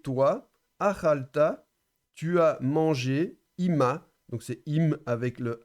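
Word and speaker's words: עִמָּהּ: achalta, tu as mangé, ima, donc c'est im avec le A, avec le mapik, donc on prononce légèrement le He final, donc ima, c'est avec elle.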